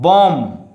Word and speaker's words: bomb: Only you have to say, or you have to read out bomb, BOM, bomb, you know, don't read like bomb, you know.